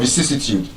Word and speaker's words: vicissitude: So, but then again, that is antepenultimate stress. Antepenultimate stress. Words that are stressed on the third to the last syllable. So now we know the meaning of vicissitude, the ups and downs.